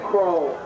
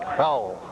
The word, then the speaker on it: Crowell: Tackled by number 60, Brian Crow. Got to pronounce that name right, Crowell.